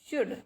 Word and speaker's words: should: वी शुड SHOULD शुड. Okay, तो इसमें L क्या हो गया, इसमें साइलेंट हो गया, इसमें L साइलेंट हो गया.